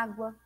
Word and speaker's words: água: Qual é a sílaba mais forte? É o A ou o A? Seria o A, né? Água. Então, nós vamos pôr um acento agudo aí na primeira letra A aí.